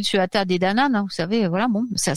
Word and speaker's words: Tuatha Dé Danann: Donc, les anciennes légendes suggèrent que les Tuatha Dé Danann, donc ça s'écrit Tuatha Dé Danann, vous savez, voilà, bon, ça se prononce Tuatha Dé Danann.